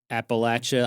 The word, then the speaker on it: Appalachia: If you don't say appalacha, I'm gonna throw an apple at you.